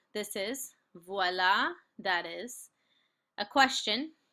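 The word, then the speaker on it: voilà: this on Quizlet um V is how you say this is VOA is that is um so I always reference the magic when a person when a magician says VOA you know make something appear um so that's how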